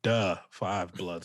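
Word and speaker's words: Da 5 Bloods: netflix called the five bloods that's how it's pronounced two duh five bloods so not the duh so yeah and uh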